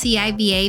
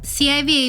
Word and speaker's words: C.I.V.A: The group's name is pronounced c.i.v.a. because, pronounced as a single word, it sounds like a curse word in Korean.